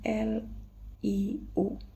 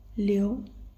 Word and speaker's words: liu: Tetapi kalau kalian sadari ini kita bacanya bukan Liu tetapi Leo.